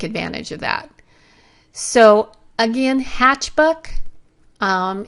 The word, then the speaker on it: Hatchbuck: of that so again hatch book um it's a funny name and I mispronounced it all the time I keep wanting to call it hatchback but it is a